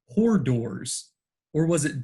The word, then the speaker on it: hors d'oeuvres: He is given a food at the party, which French listeners may recognize as an hors d'oeuvre. He pronounces it as horse duvers.